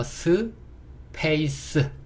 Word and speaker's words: space: E는요 묵음. 여기도 뒤에 모음이 없으니까 스. 얘도 모음이 없으니까 예, 스. 그래서 스, 페이스.